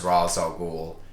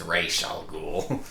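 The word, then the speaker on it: Ra's al Ghul: Gordon as the new commissioner and he Terry pronounces it as razal ghou correct she corrects him she's like everyone thinks it's pronounced razal goul but it's actually pronounced raal ghoul that was a fourth wall moment the the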